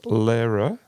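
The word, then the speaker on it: Lehrer: is it Phil well I would say the masculine is Lara yeah yes that sounds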